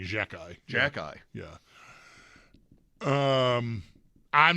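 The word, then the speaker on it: Xhekaj: His name, they pronounce it Jack Eye. Yes. Every time I hear it, I think somebody is starting to say Jack Eichel. I'm not yet conditioned to Jack Eye.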